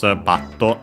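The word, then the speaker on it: バット: Used more for bat, as in baseball bat. Accented on the first syllable.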